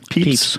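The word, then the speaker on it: Pepys: say his name papy how would you say that peeps peeps yeah um so at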